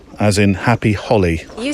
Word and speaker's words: Holi: bit picky but I think you'll find it's pronounced h as in happy Holly you say tomato I say tomato yeah yeah